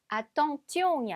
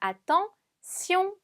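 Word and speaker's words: attention: 아톰 쑝 아톰 쑝 여기서 보면 뒤에 있는 때 이 on 2 4 가지는지 용이라고 발음이 되지 않고 시 용이라고 발음이 된다고 했어요 그래서 아 떵 지용이 아니라 아 통 시용 처럼 발음 해주시면 됩니다 자 2주 이라는 단어를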